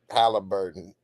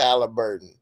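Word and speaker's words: Haliburton: Halliburton. I'm pronouncing his name wrong, so. Hey man, I love how you pronounce stuff, man. It's all good. Tyrese Halliburton.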